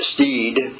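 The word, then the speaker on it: Stead: His name is William Steed, spelled S T E A D, but pronounced Steed.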